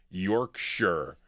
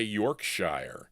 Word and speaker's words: Yorkshire: They like the way I pronounce Yorkshire. Okay. I used to say Yorkshshire and they said that was wrong.